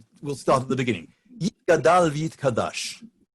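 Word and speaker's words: יִתְגַּדַּל וְיִתְקַדַּשׁ: Yit Gadal V'Yit Kadash. Okay, Yit Gadal V'Yit Kadash is Hebrew, but it really should be Yit Gadel V'Yit Kadesh.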